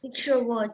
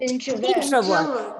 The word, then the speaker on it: introvert: Introvert. Introvert. The syllable stress is on the first part, And also and there's you extrovert.